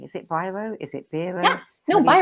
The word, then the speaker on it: Biro: Is it Biro? Is it Biro? Yeah, no, How do you Biro. pronounce it? It is Biro.